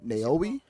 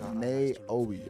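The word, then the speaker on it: Naoe: that character is a naoi not before we send neoi I think that's how you said I don't know it's n a o e so I'm just pronouncing it out you know what I'm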